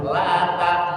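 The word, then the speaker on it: لا تأمنا: Mulutnya harus monyong la tamna. Yusuf itu namanya bacaan ismam. Walaupun tulisannya laanya seperti itu. Tapi karena ini bacaan garib maka membacanya harus laanna. Jadi mulutnya harus dimonyongin terlebih dahulu.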